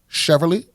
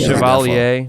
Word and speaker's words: Chevalier: Chevrolet? Oh, is that how you supposed to? Is that how you say it? I may not be pronouncing it. Chevalier.